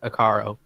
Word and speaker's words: Akaro: Like you basically would say it like Akaro.